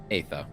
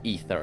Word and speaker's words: Aether: Aether or Ether, I should say. I I I keep um really I I think like both are correct, but Ether is like the usual um pronunciation.